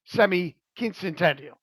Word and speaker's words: semiquincentennial: special to mark the semiquincentennial. Am I saying that right, Joe? Semi-quincentennial. Quin- Yeah, there are two N's. Semi-quincentennial. Yeah, quin- centennial would be one of a Spanish pronunciation.